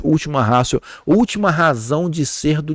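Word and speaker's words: ultima ratio: Nós escrevemos última ratio. Ratio com T, pronunciamos última ratio.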